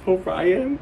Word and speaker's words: Orion: I've been saying Orion. It's Orion. It's Orion. So I am now pronouncing his name correctly, Orion.